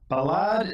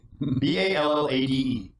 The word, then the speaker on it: ballade: Oh, Ballade in the Form of Variations by Edvard Grieg. Did you say ballad? Ballade. It's ballade. Sorry. It's pronounced ballade.